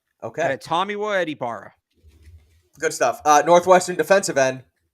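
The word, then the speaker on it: Adetomiwa Adebawore: Meanwhile, this kid, like, we're gonna have to learn how to pronounce this because everything about his game screams Patriot. Adetomawa Adibara. Okay. Adetomawa Adibara.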